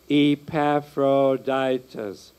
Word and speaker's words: Epaphroditus: Epaphroditus. Five syllables.